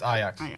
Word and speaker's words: Ajax: Oh, I'm also prematurely apologizing because I'm going to mispronounce. Is it Ajax? It's Ajax.